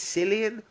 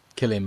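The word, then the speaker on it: Cillian: bicycle courier played by is its Silian or Killian Murphy? Killian Murphy. Killian Murphy. Okay, cuz I've never known how to pronounce it.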